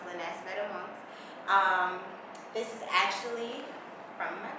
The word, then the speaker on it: Lenahc Vetaments: A lot of people think that it's pronounced Lenahc Vetaments, but it's really pronounced Lenahc Vetaments.